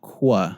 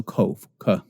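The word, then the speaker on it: qof: hard case ound it's it's spelled with a Q and you transliterate the name in english but it's not qua many English speakers we want to pronounce cues like was it's not that it's still cough cough the form there's a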